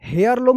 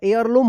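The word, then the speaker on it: heirloom: they found a family एयर लम यहां पे देखिए हेयर लम नहीं होगा एयर लम होगा एयर लम एयर लम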